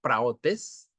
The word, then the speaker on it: praotes: La palabra mansedumbre, del griego praotes con acento en la O, significa gentileza, significa humildad.